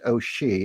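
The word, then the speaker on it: O'Sidhe: One of the protagonists in here is Bridget O'Shea, and it's spelt as Sidhe, the Irish for fairy.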